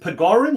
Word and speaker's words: Pegorin: Is it Pegorin? Is that how you say it? Pegorin? It's Pegorin. It's Italian.